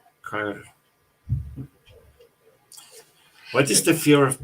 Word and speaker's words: Cairo: Oh, it's pronounced Cairo, like chiropractic. Okay, Cairo.